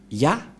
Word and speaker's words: Yah: que selon les Hébreux, ce terme se prononce ya, Y-A-H, et lorsqu'on va le regrouper avec le va, ça donne, qu'est-ce que ça donne?